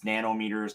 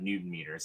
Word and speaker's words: nanometers: So it's nanometers, not Newton meters, is it? Oh, okay. So I've been saying it wrong all the time.